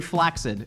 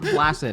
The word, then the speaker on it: flaccid: Very flaccid. It's pronounced "Flaccid", not "Flacid", actually.